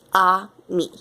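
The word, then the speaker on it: ami: mean my mom says you say it like this ah me I love French everything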